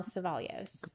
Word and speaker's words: Cevallos: Danielle Savalios.